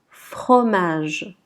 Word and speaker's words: fromage: Ensuite, FR. FR. Fre. Fre. Remarquez que l'on ne dit pas fre. Non, c'est faux. La lettre R avec F, on la prononce fre. Donc on dit fromage.